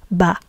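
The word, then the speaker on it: בַּ: And we pronounce it as ba.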